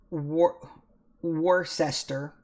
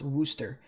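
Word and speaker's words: Worcester: though uh it's uneasy the same way that war war sester is in Massachusetts pronounced Worster that's so it's just so weird the way it's spelled and then pronounced it's just it's so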